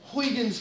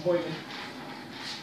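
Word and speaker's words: Huygens: we're going to use huan's principle I think that's Christian's correct pronunciation for his name Christian hyan to understand why we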